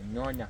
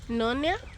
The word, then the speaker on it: nyonya: It's nyonya. Two vowels together kind of like make it hard.